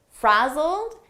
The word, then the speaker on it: frazzled: looked a little frazzled frazzled here it's a past simple Ed verb but the pronunciation is a very soft D and you almost don't hear it frazzled very sought frazzled